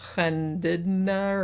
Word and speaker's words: Llandudno: So apparently some guy in this Welsh town, which in English it looks like Llandudno, but that's not how you pronounce it. It's more like Llandudno or something like that.